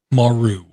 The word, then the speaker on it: Maru: And I'm going to say this is pronounced Maru.